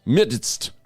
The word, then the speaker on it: midst: we're in the MST I like that word MST because you got to pronounce every letter midst oh my go English funny like that yes it is